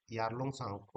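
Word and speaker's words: Yarlung Tsangpo: तो वह फिर इसको यारलंग साको नांग जाते हैं यालुंग सांग टी साइलेंट है यहां पे तो यारलंग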